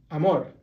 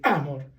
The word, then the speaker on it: amor: So see, amor has a and more, two syllables. So you stress the last one, amor. Why do you do that? Because it sounds better. If you do it backwards, you stress the a first, you say amor.